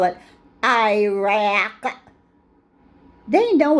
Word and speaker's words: Iraq: when they call it Iraq they know it's Iraq they know it's the opposite it's not Iraq it's Iraq they know when they disrespect